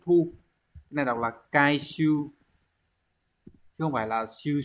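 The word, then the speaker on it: 回収: Số 3 Hán tự là chữ hồi và chữ thu, cái này đọc là kai siêu chứ không phải là siêu siêu này.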